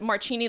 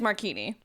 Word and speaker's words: Marchini: the rest of us who thought it was Marchini, like martini, but with the little chi. Yeah. With a little chi to Right. it. It's Marchini.